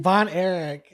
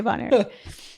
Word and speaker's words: Von Erich: Von Erich. Okay, Von Erich.